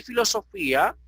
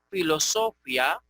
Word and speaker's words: filosofía: En castellano le pusimos esa tilde ahí, indicando que en vez de decir filosofía, como decimos historia, aquí se lea filosofía.